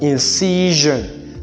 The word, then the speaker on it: incision: We have, when you find the ION or words ending in ION with a single S, then that word is, this S is to be pronounced as gen.